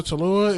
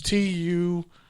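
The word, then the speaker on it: Taulia: little brother Talua is crazy. I think I said his name wrong. I definitely said his name wrong. It's Tualia.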